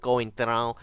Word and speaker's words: Coentrão: And can you pick up on how I'm saying his name in a Portuguese accent? Coentrão. That's how you gotta say his name.